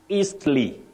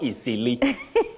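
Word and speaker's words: Eastleigh: pronunciation the edge in that name is not pronounced you say not Don not Don home and remember you also say eastly not easily eastly not easily you also say winds eastly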